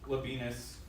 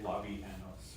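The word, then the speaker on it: Labienus: Labianos, I think. No. Character L- is spelled. L-A-B-I-E-N-U-S. Yeah. Labinas, I think would have been close enough, but I would say Labianos or Labianos, something like that.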